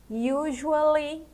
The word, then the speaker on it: usually: E aqui usually. Usually. A pronúncia dele é assim mesmo. Esse u a gente fala you. U. E esse s usually tem o som de J, né?